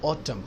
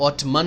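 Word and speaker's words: autumn: Summer, गर्मियां, winter, सर्दियां, spring, बहार, ऑटम, खजा जब पतझड़ होती है, पत्ते गिरते हैं तो उसको ऑटम कहते हैं। ऑटमन नहीं कहते एंड साइलेंट है।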